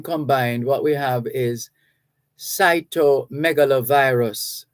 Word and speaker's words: cytomegalovirus: So when combined, what we have is cytomegalovirus, cytomegalovirus. And if you break it down in syllables, you find that it's not hard to pronounce.